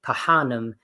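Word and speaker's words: phanem: So when you see a PH, it's never an F sound. You actually have to pronounce both, like Pahanam, which means woman.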